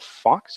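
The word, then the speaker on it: Fuchs: It's spelled F-U-C-H, pronounced Fox.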